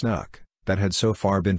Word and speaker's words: NUC: unit of computing or nucline pronounced knuck that had so far